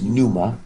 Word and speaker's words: pneuma: Well, that word, it's pneuma, like we get a pneumatic pump, pumps up something with air.